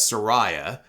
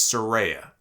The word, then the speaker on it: Saraya: by her first name which I have been mistakenly uh pronouncing as Soraya and she corrected everybody on Twitter and said it's Soraya so Saraya made her